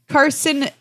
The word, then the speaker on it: carcinization: Carcinization.